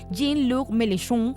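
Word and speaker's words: Jean-Luc Mélenchon: nombre importante que vamos a tener en cuenta jin luk melun se debe pronunciar eh Y el nuevo frente popular es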